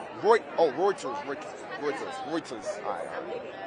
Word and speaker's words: Reuters: How do you pronounce it? Roy. Oh, Reuters.